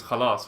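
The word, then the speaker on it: خلاص: Khalas, but that's hard to say because you say it with the throat. Khalas. You try it. Khalas. Yeah, see? It's not so difficult. It's difficult. She didn't say it right. It's khalas.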